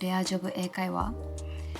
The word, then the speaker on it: レアジョブ英会話: company called Rare Job, and in Japanese it's Rea Job Eikaiwa.